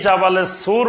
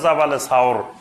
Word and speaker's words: জাবালে সাওর: সাওর পাহাড়ের এখন যেটা জাবালে সুর বলে, জাবালে নূর আর জাবালে সুর, এই জাবালে সুর বা এটা শুদ্ধ উচ্চারণ হলো জাবালে সাওর।